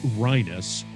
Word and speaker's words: Reines: out to uh michelle reinis now she spells it just fyi r-e-i-n-e-s yes but it's uh pronounced rhinos so don't make that